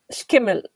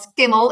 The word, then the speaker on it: Schimmel: Yvonne Schimmel, did I tell it right? Well, it's not a K, it's a so it's very difficult to pronounce for everyone. So it's not skimmel, it is schimmel.